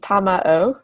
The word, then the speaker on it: Tamao: So it can be Tamao, 3 syllables, or usually Spanish speakers say Tamao.